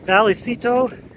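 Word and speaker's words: Vallecito: everybody here calls it Valley Sito but if it's uh pronounced the way it's spelled and if it's spelled in the Spanish sense Double L I guess you would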